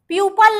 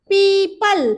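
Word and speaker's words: people: प्यूपल नहीं बोलते बेटा, प्यूपल प्यूपिल नहीं बोलते हैं, प्रोनाउंसिएशन है पीपल।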